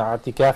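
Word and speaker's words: اعتكاف: And I want to remind the viewers, as the brothers mentioned, i'tikaf is pronounced with the ayn.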